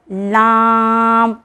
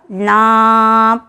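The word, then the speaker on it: ل: लाम, आपको बताते चलूँ, जहाँ से हमने निकाला था रॉ, वहीं से याद होगा लाम, यानी ज़बान की नोक को सामने वाले दांतों की जड़ से मिलाकर अदा होता है।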